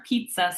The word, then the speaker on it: pizza: to call this our pizza sound, because if you break up the double Z in the word pizza, it's a TS sound.